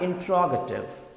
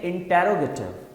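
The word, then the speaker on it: interrogative: बहुत से लोग इसे कहते हैं इंट्रोगेटिव, बहुत से लोग कहते हैं इंटेरोगेटिव, राइट। तो पता नहीं क्या क्या लोग कहते हैं, बट the correct pronunciation is इंट्रोगेटिव, इंट्रोगेटिव, right.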